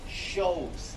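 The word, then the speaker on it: choses: include what we call shows in action this ch is pronounced sh not k six could be pronounced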